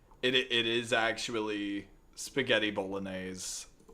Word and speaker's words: Bolognese: Uh bologoness. No, the the actual the actual Italian pronunciation. Oh, they're in ads. Spaghetti Bolognese. Just hold on. It it is actually spaghetti bolognese.